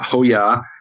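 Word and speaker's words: הוֹיָה: in the feminine form, and hoya, and it rhymes with the name Yehovah.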